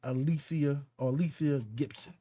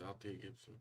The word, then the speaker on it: Althea Gibson: I guess you pronounce it Alethea Gibson. Alethea Gibson. She's a professional tennis player. It's Althea Gibson. Althea. That's what you say, Althea Gibson.